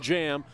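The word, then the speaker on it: Djam: Spells it D-J-A-M, but it's pronounced Carlton Jam.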